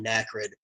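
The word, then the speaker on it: Anakrid: under the name of ND and so I have probably like 20 albums out under that yeah damn spelled like ACD but with an N um it's a n a k r i d okay so yeah all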